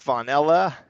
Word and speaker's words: Vonella: Here we have Nick Vonella. I'm pronouncing that right, right? Yep, just like the Yeah. flavor spelled a little different.